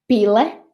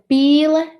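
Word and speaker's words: pīle: Pile means a job, and pile means a duck. So koka and koka, pile and pile.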